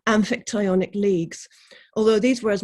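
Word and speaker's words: Amphictyonic: alliances such as the ancient greek archaean and infic sorry pronunciation amphitionic leagues although these were as much confederal as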